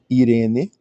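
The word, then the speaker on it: εἰρήνη: Já apareceram, que é o E. Irene, sempre que você tiver um epsilon e um iota juntos, esse ditongo, você pronuncia I.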